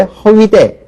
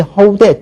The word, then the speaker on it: 허우대: 을의 쪽을 표준으로 정했고요 원래 허위대 허위대 멀쩡한 사람이 이렇게 얘기를 하죠 그죠 그런데 대부분이 허우대 쪽으로 발음을 하니까 이거 역시 허우대 쪽을 지금 표준어로 정했습니다 그래서 이렇게 지금 어